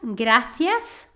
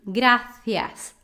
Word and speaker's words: gracias: Agora, na Espanha, falaria muchas gracias, papá. Te amo mucho. ¿Sí? Gracias. CI também eles pronunciam com a língua entre os dentes. Gracias. Gracias. Ok? Sotaque da Espanha. Latino seria gracias.